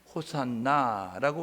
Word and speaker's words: 호산나: 뭐라고 외쳤느냐면 호산나라고 외쳤어요. 이게 이제 헬라어식 발음이고요, 히브리식으로는 뭐냐면 호시아나 이렇게 하는 거, 호시아나 이렇게 이야기하는데, 이 호시아나는 호세야 플러스 나로 해서 호시아나라고 그렇게 이야기하게 되어지는 것입니다.